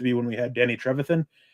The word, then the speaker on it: Trevathan: Marshall used to be when we had Danny Trevathan.